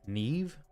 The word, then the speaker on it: Nyame: Nyame is pronounced Neve.